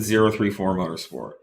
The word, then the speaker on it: 034 Motorsport: Um, you know, we we like to pronounce it 034 Motorsport. Um, from the very beginning I felt like we were an engineering company and pronouncing the numbers 034 was more of an engineering uh take and a more professional way of stating our name instead of saying 034.